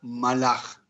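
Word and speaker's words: מלאך: Pues bien, resulta ser que ángel en hebreo se pronuncia malach de manera singular, mientras que de manera plural se pronuncia malachim, y son seres un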